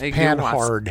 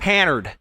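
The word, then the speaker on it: Panhard: It's pan hard. It's pan hard? Pan hard. Pannered. H is silent.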